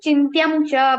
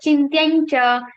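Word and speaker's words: चिन्त्यं च: We don't say chintyamcha but chintyancha. Why? Because of the difference between these nasal consonants.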